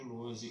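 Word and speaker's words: Lohse: Meu canal no YouTube é o Luozi. Luozi se escreve L-O-H-S-E, se escreve com Z.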